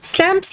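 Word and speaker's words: Psalms: पर इन्होंने अपनी टू स्लैमस लिखी है यहां पर पी साइलेंट है ओके और टू स्लैमस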